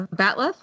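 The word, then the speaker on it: bat'leth: Oh, the batlith. Ah, yes. That's how you pronounce it.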